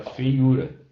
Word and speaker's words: feiura: Então, por exemplo, a palavra feiura. Né? Feiura. Tá? O U está sozinho na sílaba, está precedido de vogal diferente, mas aqui é um ditongo decrescente. Fei, né? Ditongo decrescente. Sendo um ditongo decrescente, não leva acento.